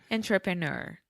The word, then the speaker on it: entrepreneur: Entrepreneur. On. All of these start with on.